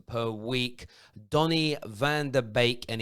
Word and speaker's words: Beek: week donny van der beek and it is pronounced bake not beak is a manchester united